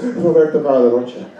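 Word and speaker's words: Roberto Barra da Rocha: My full name is Roberto Barra de Rocha. That's how you say it, too.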